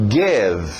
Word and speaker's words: give: E aberto o som de E. Cuidado, nada de I. To give.